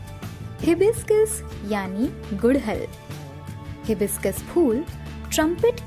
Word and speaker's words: हिबिस्कस: Hibiscus इसका गलत उच्चारण है। इसे सही से बोलने के लिए इसके 3 भाग करें। पहले बोले ही, फिर बोले बिस, फिर बोले कस। तीनों को मिलाकर बोलिए हिबिस्कस।